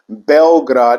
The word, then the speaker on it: Belgrade: But the proper pronunciation is Belgrade, which translates to white city in Serbian language, because Bel is white and Grad is city.